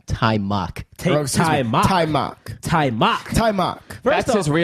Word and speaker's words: Taimak: also Taimak? needed the Vanity trifecta on the Taimak? podcast. That's right. Yeah, it is. It's Taimak. Taimak. It's Taimak. It's Taimak. Taimak. Taimak.